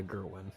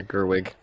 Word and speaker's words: Gerwig: actually love to see Greta Gerwin sorry I'm trying to make sure I say her name properly yeah Gerwig Gerwig excuse me and her her team